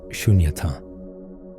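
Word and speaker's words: śūnyatā: This is a profound teaching on the Buddhist concept of shunyata, pronounced shunyata, often translated as emptiness.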